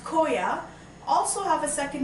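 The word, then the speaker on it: khoa: The name in Hindi is pronounced koa also have a second name as mawa.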